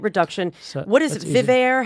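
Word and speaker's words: VivAer: Vivair? How do you pronounce it? So Vivair.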